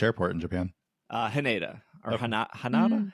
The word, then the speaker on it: Haneda: Haneda or Hanada? Haneda.